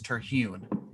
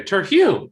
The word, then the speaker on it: Terhune: So as far as I'm concerned, it's Terhune. Okay, that's what I was gonna say. Terhune. Yeah, that's how it's spelled.